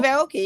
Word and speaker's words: Aoki: Yeah, Steve Aoki.